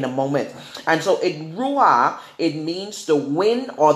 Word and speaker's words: ruah: And if you go and you look it up in Hebrew, spirit is pronounced ruah, ruah. That's R-U-A-H. Amen?